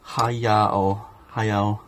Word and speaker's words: Hayao: I think I mispronounced the first name. Hayao.